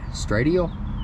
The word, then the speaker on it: ST Radial: Stradial? No, ST Radial. What a moron. That's my bad. ST Radial. I was trying to pronounce it as Stradial.